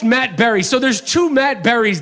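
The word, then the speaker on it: Matt Barrie: reporter on ESPN, and his name is Matt Barry. But it's pronounced Matt Berry.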